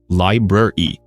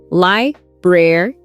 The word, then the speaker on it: library: But try to pronounce both R sounds, library. Practice it slow first, library, then speed it up.